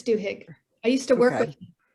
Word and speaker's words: Duhigg: with this book charles i'm not sure how to pronounce his name duhigg it's duhigg i used to work